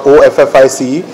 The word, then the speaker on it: Awfis: office right so uh awf is the pronunciation for office and we felt if